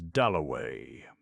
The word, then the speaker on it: Dalloway: Somebody had brought him over, and Clarissa got his name wrong. She introduced him to everybody as Wickcham. At last he said, "My name is Doway."